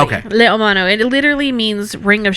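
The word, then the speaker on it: leiomano: This one I actually pronounced correctly. Okay. Le Omano.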